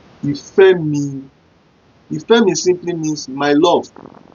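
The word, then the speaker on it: Ìfẹ́mi: Then number 2, we have Ìfẹ́-mi. Ìfẹ́-mi.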